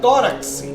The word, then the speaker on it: tórax: Ó, a palavra tórax é uma dissílaba. Terminou em X. A sílaba tônica, ó, é a penúltima.